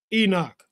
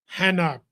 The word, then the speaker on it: Enoch: This is Enoch, Chinook, Hanok, pronounced several other ways, whatever.